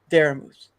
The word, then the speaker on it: Daramouthe: So the E is silent at the end, and it's Daramouthe.